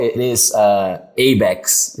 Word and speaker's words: ABECS: a go it's it's called it is uh abex right abcs oh abex as we say in brazil it's a brazilian